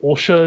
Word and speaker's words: Ulsha: I believe you said that what Ulsha is how it's pronounced.